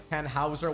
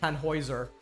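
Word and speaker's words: Tannhäuser: I know for some reason I keep accidentally pronouncing it as Tanhouser when it the actual pronunciation is tanoer.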